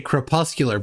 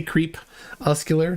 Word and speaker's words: crepuscular: want to pronounce it I always say kpuscular but if you could say crepuscular that's good that's a good one.